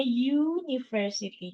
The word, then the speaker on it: university: Terus kalau misalnya university, walaupun tulisannya pakai U, tapi bacanya university.